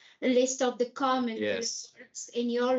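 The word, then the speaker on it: och: So, if it's just the pronunciation of when you write O C H, you pronounce O.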